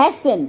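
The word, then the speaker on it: hasten: tales कह ठीक है ह हैसन ए चिट्टी जो है वो साइलेंट है ठीक है ह हैसन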